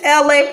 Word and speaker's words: Ela: My name is LA, pronounced like LA, like the city.